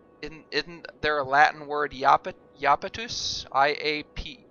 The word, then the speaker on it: Iapetus: I think, isn't there a Latin word iapetus? I-A-P-E-T-U-S, but it's pronounced like a yeah, so there's no need for a J there.